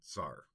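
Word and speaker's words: czar: in ran or Slavic just simplified to Zar c z a r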